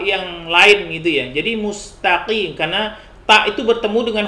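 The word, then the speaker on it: ٱلْمُسْتَقِيمَ: kita ke bawah yang lain gitu ya jadi mustaqim karena Pak itu bertemu dengan huruf qaf akhirnya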